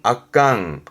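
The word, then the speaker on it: 圧巻: 발음은 악강.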